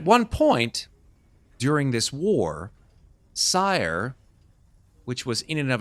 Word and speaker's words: Cyre: But you remember hearing about a particular section of Corvair called Cyre, C-Y-R-E, pronounced and spelled in the exact same way that you see on this book.